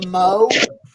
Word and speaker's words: Moog: yeah, Synthesizers, beginning with the Moog, it's actually pronounced the Moog.